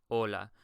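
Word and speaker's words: hola: just saw starting with Ola We already know that the H is going to be silent in Spanish we simply don't pronounce it so you would say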